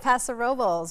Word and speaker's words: Paso Robles: You said it right, Paso Robles.